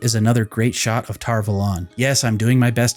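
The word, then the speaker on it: Tar Valon: this next clip is another great shot of tar velon yes i'm doing my best to say it as tar velon from now on because now we've officially heard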